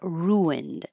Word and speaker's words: ruined: So, we started with a request for ruined. And this is one of those words that has a intrusive W or I call it um an invisible W or sometimes a hidden W.